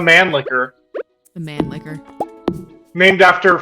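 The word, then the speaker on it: Mannlicher: funny name in English it would be pronounced the man licker the man licker named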